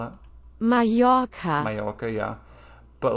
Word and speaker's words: Mallorca: That's like, for example, I know if two L's are together, it's like that would be Mallorca. I know, right? Is that even how you spell it? Mallorca.